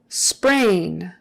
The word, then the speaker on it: sprain: specialist about that specialist sprain ain is pronounced with a long a in sprain ain sprain sprain how severe